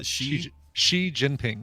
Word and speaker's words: Xi Jinping: No, Xi Jinping.